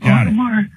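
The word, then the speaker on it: Audemars: Automar. A U D E M A R S. Got it. The S is silent. Automar.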